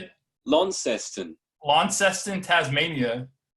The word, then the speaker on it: Launceston: loud casting lounge how do you say it launceston launceston tasmania new york times